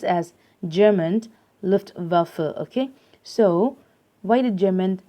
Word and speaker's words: Luftwaffe: to practice this pronunciation is it will be pronounced as german luftwaffe okay so why the german why did the